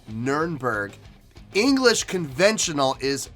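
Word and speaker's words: Nürnberg: the year 2000 now nurnberg not to be considered not not to be confused with norenberg okay actually they are the same thing but german pronunciation the german actual pronunciation is nurnberg english conventional is nuremberg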